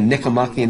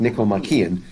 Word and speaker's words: Nicomachean: And Aristotle wrote a book that's called the Nicomachean Ethics, or sometimes it's pronounced Nicomachean, but he pronounces it the Nicomachean Ethics.